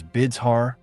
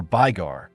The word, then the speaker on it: Bulgar: One part of the Bijagets, speaking 1 Trek Bulgarian and 2 Kura, Finnish dialects, pronounced the word Bulgar as Bidzhar or Bygar, and another as Bugar or Burgash.